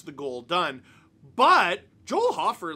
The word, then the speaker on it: Hofer: Hofer Hofer Hofer Hofer I'm going to say Hofer Hofer I think it's spelled hoer I'm going to say Hofer BL